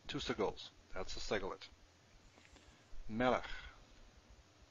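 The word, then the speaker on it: מֶלֶךְ: Melech. Melech means king. Stress on the first one, two segols.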